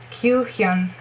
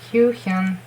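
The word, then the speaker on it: Kyuhyun: Q, it's U, like in Ryeowook's name, just U, not U. Q, and Hyun, mean like Hyuk, just it's Hyun, not with a K, it's with an N. Hyun.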